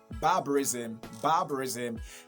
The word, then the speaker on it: barbarism: From what I just said, you're going to realize that I'm stressing the first syllable, okay? The first syllable, barbarism.